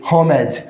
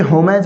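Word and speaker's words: homage: Next हमारा word है ये होमेज। क्या है? क्या ये होमेज है? नहीं साथियों, इसका भी करेक्ट प्रोनाउंसिएशन क्या होगा? होमिज।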